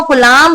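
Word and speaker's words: coulomb: कलाम कलाम अरे नमूनो कलाम नहीं कलाम इसका जो प्रोनंसिएशन है वो आपको कलाम नहीं रखना है। यहां पर बी वर्ड जो है वो साइलेंट है।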